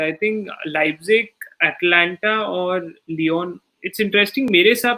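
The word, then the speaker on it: Lyon: Because पहले तो आई am sorry to correct you, इट्स लियोन.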